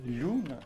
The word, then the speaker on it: lhuna: Portanto, todas as palavras que existiam em latim, em mirandês, passaram a pronunciar-se com lhe inicial, enquanto que em português se mantiveram com L.